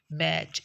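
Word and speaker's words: match: थन इसी तरह से लेटर टी जब डायग्राफ सी एच के साथ मिलके आता है तो इसकी साउंड साइलेंट हो जाती है जैसे मैच इसमें मैट टच नहीं मैच होगा इस तरह हैच हम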